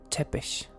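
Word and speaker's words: Țepeș: tepes y tercero tps leas en perfecto español te page en algo parecido al rumano aunque la pronunciación original sería casi como si tuviera dos shc hachís como chepes chepes tercero más conocido o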